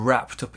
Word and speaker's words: wrapped up: You can see we link the D and the U. Wrapped up with a T sound.